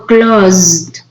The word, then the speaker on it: closed: climbed closed says it's close or closed that is like clothes there is like the